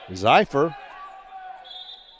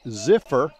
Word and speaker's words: Zeifer: have to correct myself i've been pronouncing it bryce zeifer a good buddy matt public address pronounces it ziffer and i suspect he's probably got it right because he's the public